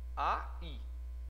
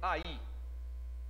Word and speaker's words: aí: acento agudo no i a i eu não falei ai se fosse falar ai estariam juntos mas eu falei aí Então essa palavra tem duas sílabas ele é um símbolo